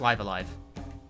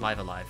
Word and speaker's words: Live A Live: there uh live alive it's pronounced live alive it's definitely pronounced live alive oh he can wear